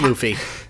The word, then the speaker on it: Luffy: the art style off pudding and I found lovey annoying a very one-dimensional character does entirely Fair yeah it's pronounced Luffy Luffy okay I'm never going to remember that